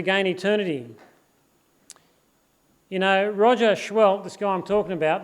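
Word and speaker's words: Seheult: You know, Roger Schwell, this guy I'm talking about, that's how he spells his name, by the way, C-H-W-E-L-L-T, if in case you're not sure, but it's pronounced Schwellt.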